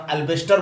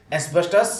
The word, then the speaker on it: asbestos: Seat जो आता है जिसको हम लोग आम भाषा में अल्बेस्टर बोलते हैं, but this is wrong pronunciation, ये रॉन्ग प्रोनाउंसिएशन है, अल्बेस्टर नहीं, एस्बेस्टस सीमेंट शीट होता है, उसमें भी इसका प्रयोग होता है।